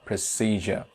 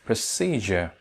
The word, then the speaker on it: procedure: pronounce it procedure or procedure another thing is that you see it's a three syllabic word and the middle one is stretched and second syllable procedure procedure i think it's